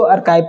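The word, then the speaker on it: archive: नहीं कर पाते हैं तो आर्चीव को आर्काइव पढ़ना चाहिए ये मतलब ऐसे हर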